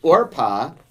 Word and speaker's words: Orpah: version of truth so Orpah is how that's pronounced or Pavo root Kaoru the